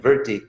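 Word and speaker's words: वृत्ति: And it's actually pronounced technically in Sanskrit, vritti.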